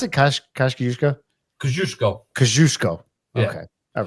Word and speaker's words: Kosciuszko: So how'd you pronounce it? Kosciuszko? Kosciuszko.